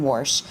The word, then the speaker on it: Warsh: say it, but that's his surname, it's Kevin Warsh, right?